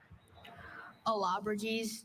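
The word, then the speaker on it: Allobroges: Alabraes.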